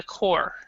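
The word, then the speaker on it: corps: Also, but if you see this one, we actually do not pronounce the P or the S. So this is a core.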